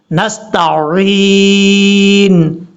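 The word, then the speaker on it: نستعين: نے کلیئر کرنا ہے۔ نستعین، عین کا پتہ چلے، عین، نستعین، یہ ہے اس کا پڑھنے کا صحیح طریقہ اور تلفظ۔ اب اس کے بعد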